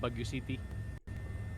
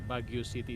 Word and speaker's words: Baguio: It's called Baguio City. Bagu. Yeah, Baguio City. It reads Baguio City, but it pronounced very different.